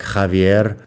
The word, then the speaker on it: Javier: I am well aware that the X at the beginning of that name should be pronounced like like Javier.